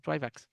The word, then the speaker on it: Trivax: Trivax.